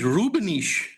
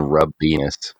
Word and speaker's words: Rubenis: But then I met someone from Latvia, and she was like, "Oh, your name is Rubenis," and I was like, "Oh, sure, I guess." So I pronounced it wrong myself, so it's fine. It's a lot better than rub penis. Yeah, I mean, a lot of people go for the rub penis sound alike thing.